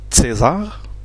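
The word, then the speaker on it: Cäsar: comme par exemple dans le mot César, ça se prononce César. Donc, César, et non pas César. Mais quand on dit César, tout le monde le comprend, c'est pas grave non plus.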